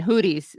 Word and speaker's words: Houthis: Again, Houthis. Someone on his team may want to point out that's not how you say it. It's Houthis.